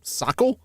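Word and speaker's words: socle: Sockle? Social? Can I get an assist here, Google? Tell me how to pronounce this.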